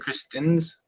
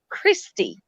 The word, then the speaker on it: Christy: It's not pronounced Kristen's. No, it's not. It's Christie's. See?